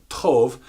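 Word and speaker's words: טוב: put that in with very and good good pronounced Tove actually means good pleasant beneficial and bounty what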